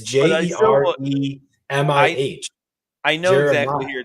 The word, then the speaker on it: Jeremih: You pronounce it. The guy that's saying birthday sex. Oh, I think it's Jeremiah, isn't it? No, it's Jeremih.